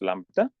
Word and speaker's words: lambda: It's pronounced lambda.